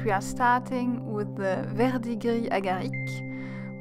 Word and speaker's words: verdigris agarique: And we are starting with the verdigris agarique, which, yes, I pronounced the French way.